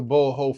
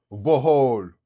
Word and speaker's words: Bohol: Shout out to Boho, Philippines. You know what I mean? I'm saying it right? Bohol. Bohol.